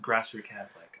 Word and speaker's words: Grassroot Catholic: is it the Grassroot Catholic? No, I think it's just Grassroot Catholic.